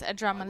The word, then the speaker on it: Adramalik: Pronounce it wrong. It's Adramalik.